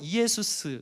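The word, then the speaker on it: Ἰησοῦς: 실제로 헬라어로 이에수스, 예수 다 발음이 똑같아요.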